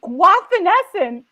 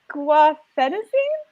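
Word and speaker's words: guaifenesin: into the icu and i said the words guavanessen and someone looked at me and they're like gua fenicene and i was like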